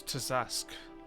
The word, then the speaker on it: Tazask: Dusk. Zask, but with a T in front of it.